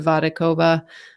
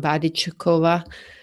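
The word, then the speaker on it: Vodičková: She'll be chased by Radka Vadakova. Or maybe I said that wrong, Vadichukova. Heather Wertel had that on her blog, so I was saying it wrong.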